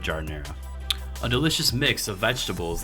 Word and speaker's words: giardiniera: today's episode we're making jar dinero jar Inara whichever way you want to pronounce it I'm gonna go with jar dinero a delicious mix of